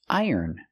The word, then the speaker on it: iron: Use the long I plus the er, I and the N sound, iron.